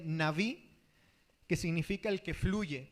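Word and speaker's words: נביא: Quiero mencionar que el término profeta en el hebreo viene de una palabra que se pronuncia o se dice naví, que significa el que fluye, como una fuente.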